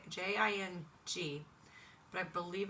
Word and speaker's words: Jing: that's the Ying the Jing it's j i n j j i n g but I believe it's Jing like Ying Jing anyway I apologize if